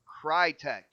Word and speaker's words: Crytek: rumor is IO Interactive relic relic entertainment and Crytek yes guys I said it right Crytek um these are the rumors and hasn't been